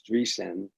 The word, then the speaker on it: Dreesen: you know d-r-double-e s-e-n everybody spells my name wrong they put two s's in there but it's not dress and it's dressing and you can go